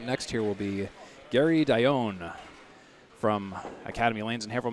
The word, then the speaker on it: Dionne: Wanted to make sure I got his last name pronunciation correct, and he told me it's Dionne.